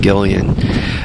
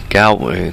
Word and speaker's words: Galway: The characters, let's go with character because there was only one person I bought the bikes from up in Gillian. He, Galway, up in Galway, let's say it correctly.